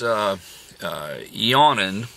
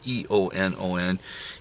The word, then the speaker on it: Eonon: I went out and I bought this Eonon. I think I'm pronouncing it right. E-O-N-O-N.